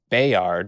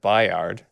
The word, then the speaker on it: Bayard: But also, he says Bayard instead of Bayard, which I thought, just interesting because he's been in the show and that's how they pronounce it. So I think he was like, nope, it's Bayard.